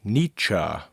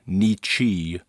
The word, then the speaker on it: Nietzsche: pronunciation note on Nietzsche's name the name is pronounced nietzscha not Nichi or niche rhymes with mitcha and you can always think